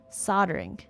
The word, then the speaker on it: soldering: Soldering. So it's oh, the L is silent.